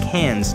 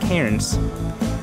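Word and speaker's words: Cairns: try dirt biking in cans which is pronounced cans not KS I got to cuddle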